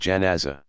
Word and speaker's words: janazah: At the cemetery, mourners gather around the grave and offer special burial prayers called janazah, pronounced janaza.